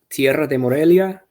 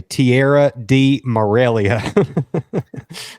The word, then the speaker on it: Tierra de Morelia: realized because I say tiarra d Morelia well yeah that's that's how it sounds if you don't roll your R right uh where didd